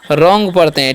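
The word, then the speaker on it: wrong: यह आदमी बुद्धिमान है डब्लू आर ओ एनज से हम लोग पढ़ते हैं रंग क्या पढ़ते हैं रंग पढ़ते हैं ठीक है यहां पर डब्लू साइलेंट होता है तो रंग मतलब क्या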